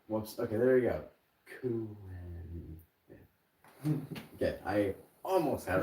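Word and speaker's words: Kuehn: I just think of it as Kuin. Yeah. Like, I just pronounce it like that in my head because I'm like, that's how you spell it. So I'm going to pronounce it that way in my head. Exactly. Kuin, because then I know how to spell it.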